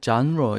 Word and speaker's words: genre: genre 이렇게 쓰면 되는데 발음을 이제 장르라고 하지 마시고 genre 이런 식으로 약간 genre하고 비슷하게 발음을 하시면 됩니다.